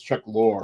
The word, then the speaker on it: Chuck Lorre: Well, you said the name wrong. It's Chuck Lorre.